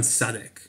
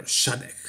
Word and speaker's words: Shadek: And I definitely don't think that he was better than Milan Sadek, or Shadek, how it's pronounced.